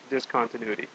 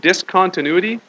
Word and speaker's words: discontinuity: point of discontinuity now it's a funny word discontinuity because you want to say it's dis continuous but the stress is on the different part of the word so it's actually not discontinuity it's discontinuity the stress is kind of in the middle there all right yeah